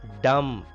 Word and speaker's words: dumb: Dumb. B is silent here.